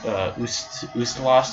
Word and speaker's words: Ustalost: it for yourself man gusta lost i believe is how you say it I can't really